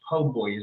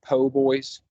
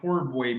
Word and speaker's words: po' boy: feel weird about saying po boys no I I I was I was saying poor boy but then you get there and it's spelled PoBoy I know I know